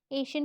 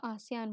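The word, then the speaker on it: ASEAN: आसियान countries याद है, एशियन pronounce नहीं करते हैं और इसको आसियान बोलते हैं, ठीक है।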